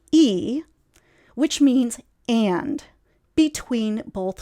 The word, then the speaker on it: y: in this manner with the conjunction y in Spanish pronounced e which means and between